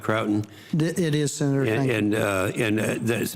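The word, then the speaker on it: Croughton: Is that pronounced right, Croton?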